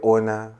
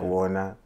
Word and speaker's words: Ona: You can say Ona, like the basic Shona way of pronouncing it, like Ona.